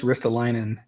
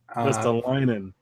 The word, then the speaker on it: Ristolainen: You want to try pronouncing that again, Tim? Rasmus Ristolainen. Not quite. Rasmus Ristolainen. Ristolainen.